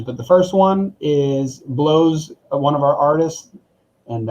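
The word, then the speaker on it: Bleaux: the first one is blows one of our artists and i just realized that sounds weird when you say it like that but blow is his name b-l-e-a-u-x and he just released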